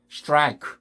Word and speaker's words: strike: 이런 비슷한 발음들이 많죠. strike, 그죠?